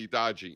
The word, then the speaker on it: Hitachi: You know, like you hear the grandmothers yelling, looking for the Hitachi. And then, you know, remember in Spanish, you don't pronounce the H. So it's Hitachi.